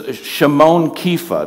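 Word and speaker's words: Shimon Kefa: his Hebrew name and this is shamone keifa that's how we pronounce Simon Peter the word keifa in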